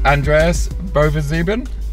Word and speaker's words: Bovensiepen: this is Andreas Bovensiepen. Have I pronounced that correctly?